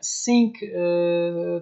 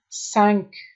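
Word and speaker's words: cinq: متوجه باشین قسمی که در ویدیوی قبلی هم اینجا گفته بودم که ایره سینک تلفظ نکنین، چون زیاد دوستارم از زیاد در بسیاری جایا دیدم که سینک تلفظ میکنن. متوجه باشین سنک 5 میگه و سیس یک چیز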